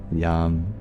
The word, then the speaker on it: Yam: well you know it's the mantra for the heart mantra for the chakras is om mantra for the heart is Yum you open your heart chakra just by saying my name how cool is that